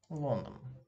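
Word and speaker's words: Лондон: London. London. Here you may notice that this letter is stressed, so we pronounce it as O.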